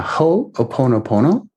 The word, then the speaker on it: ho'oponopono: what what is it called in hawaii yeah ho oponopono oh i have to spell it for you yeah it's h o